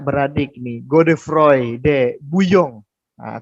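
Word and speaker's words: Bouillon: Nah, ada juga misalnya yang dipimpin oleh kakak beradik nih, God Frey de Buyong. Nah, tulisannya bulion, bacanya buyong. Emang kalau bahasa Prancis tuh agak aneh gimana ya.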